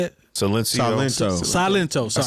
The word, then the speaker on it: Silento: Silencio. Salento, is it how you say it? Silencio. Silento.